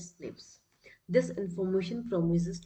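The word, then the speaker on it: SNPs: single nucleotide पॉलीमोर्फस जम they are pronounced as स्निप्स this information promise to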